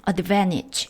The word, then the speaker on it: advantage: advantage 하면 우위, 유리한 조건이란 뜻입니다. 이음절 강세 advantage인데요. 우리가 보통 발음할 때는 advantage고요.